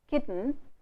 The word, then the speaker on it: kitten: So, you saying kitten, little, hidden. This here n and l themselves work as vowels. So, you do not have to add a vowel between this. Indian speakers say kitten, hidden, little. They add a vowel between t and l. You must understand that l itself is a vowel.